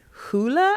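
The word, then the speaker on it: Hole: You might know him from his um Detective Harry hoola. I think I'm pronouncing the the Norwegian correctly.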